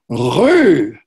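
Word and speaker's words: rue: French word for Street but most Americans can't pronounce it correctly it's Lou try saying that so he said all right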